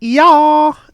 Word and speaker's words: Yauw: Like I said before, it's pronounced Yauw, and it's spelled Y-A-U-W.